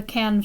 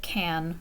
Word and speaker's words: Cannes: And everybody has heard of the Cannes Film Festival. In English, we would pronounce it Cannes, right? In French, it would be Cannes.